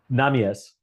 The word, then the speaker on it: Nahmias: It's a hard correct pronunciation is Namas. Namas.